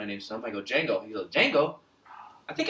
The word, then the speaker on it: Django: I go, "Django." He goes, "Django? I think I've seen it." I go, "Okay." He's like, "Let me Google the poster." He put Jango. And I was like, the D is silent.